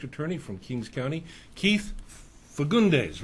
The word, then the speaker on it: Fagundes: My guest for this segment is the DA, the District Attorney from Kings County, Keith Fagundes, right? Did I pronounce that right?